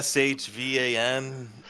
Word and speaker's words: Siobhan: Siobhan. She Oh, how do you spell that? Uh, I don't know. But probably with very little vowels. It's like a sh Van and then stucker.